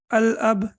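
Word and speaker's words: الأب: uh here we have al-ab so how do we pronounce it right so Lam will be pronounced while I'm will be pronounced because after Lam there is no we don't see the over here means the father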